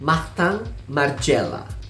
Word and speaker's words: Martin Margiela: Martin Margiela. R seperti biasa. Tang, I jadi A. Martin Margiela.